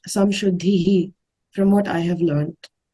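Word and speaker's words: संशुद्धिः: might be wrong, but when there's a ra at the end of a line in a shloka, I think it's pronounced as ihi. So like it's abhayam sattva samshuddhihi, from what I have learned.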